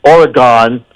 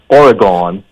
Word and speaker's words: Oregon: Listen, right now she still lives in Oregon because she's with some giant law firm there,